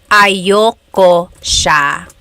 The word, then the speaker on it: ayaw ko: Usually it's pronounced ayoko siya.